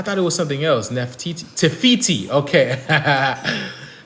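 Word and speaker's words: Te Fiti: Tefiti. Okay. Tefiti.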